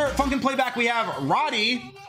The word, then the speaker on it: Radi: ] playback we have Roddy um I think that's how you pronounce it r-a-d-i um oh my God